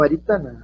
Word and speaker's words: Aritanã: Aí eu botei um tio, ficou Aritanã. A partir dos 14 anos de idade, eu só me apresentava como Aritanã.